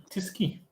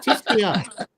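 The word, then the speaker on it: Tyskie: Tisky. Tisky. It's Tiskia. The proper name, the way to pronounce it is Tiskia.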